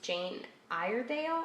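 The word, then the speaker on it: Jane Iredale: And so I found these, and they're by someone, the name wiped off, but the name of the brand is Jeane Iredale, I believe is how you say it.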